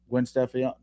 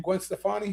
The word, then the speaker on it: Gwen Stefani: She got um Gwen Stefan, how you say her name? Gwen Stefani.